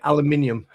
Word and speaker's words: aluminium: Don't forget don't forget aluminium. Uh like you Americans say aluminum.